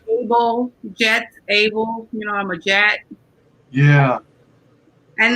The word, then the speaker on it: Jetsabel: Do you pronounce it Jetsabel? Yep. Okay. The TS makes a Z sound. All right. I can see it. In Spanish, it's Jetsabel.